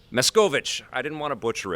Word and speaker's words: Machkovech: how do you say your last name Sam miss Govich miss Govich I didn't want to butcher it I'm sorry I butchered it in your intro there say sorry